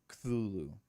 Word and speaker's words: Cthulhu: There's not an A in between the C and the T, so I've always struggled in how to pronounce that. Cthulhu.